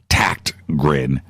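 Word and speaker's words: Tägtgren: he gr en but it's pronounced like with a K that's how the Swedes do it tact grin even those ta GT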